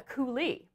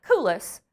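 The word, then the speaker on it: coulis: it is called a coulee it's spelled c-o-u-l-i-s and it looks like kulas but we have to pronounce it the french way instead of using our texas accents what a coulee is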